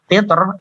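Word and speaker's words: قطر: Sementara qitr itu ra-nya kalau disambungkan dibacanya ra-nya itu berharokat kasroh, makanya jadinya tipis seperti itu ya.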